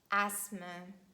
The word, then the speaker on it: asthma: And they are asthma, Christmas, mortgage, soften. The word often can be pronounced in both ways, and we can say often or often.